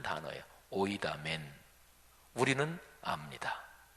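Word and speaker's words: οἴδαμεν: 헬라어 원문으로 발음하면 오이다멘 이렇게 발음하는데요. 헬라어 여기 동사에는 주어가 포함이 되어 있어서요. 헬라어 원문으로 하면 딱 한 단어예요. 오이다멘.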